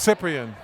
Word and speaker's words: Cyprian: It's Cyprian. Yeah. You have it. That's a P and not a B.